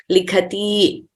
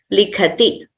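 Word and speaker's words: लिखति: So we should not prolong them as pathati, likhati, dhavati, nrityati, hasati. That would be wrong. So we have to pronounce them accurately as short letters. Pathati, likhati, dhavati, nrityati, hasati.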